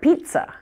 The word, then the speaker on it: pizza: and that's the word pizza I hear so many strange pronunciations of this word because of the double Z now strangely this word when pronounced doesn't even have a Z sound in it isn't that crazy but